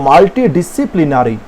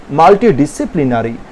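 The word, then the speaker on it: multidisciplinary: এরপরে কি রয়েছে দেখো, মাল্টি, এর উচ্চারণটাও বলে দিই, মাল্টি উচ্চারণ করবে প্রথমে, তারপরে করবে ডিসি, তারপরে করবে প্লিনারি। তাহলে কি হলো, মাল্টি ডিসিপ্লিনারি, মাল্টি ডিসিপ্লিনারি, বুঝতে পারলে উচ্চারণটা?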